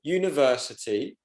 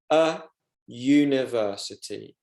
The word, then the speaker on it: university: For example, university is a university because the U sound is pronounced as a Y. University, a university.